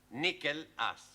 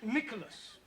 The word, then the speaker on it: Nicholas: Once upon a time, there was a man called Nickel Ass. That's not quite right. No? Once upon a time, there was a woman called Nicholas. It's pronounced Nicholas.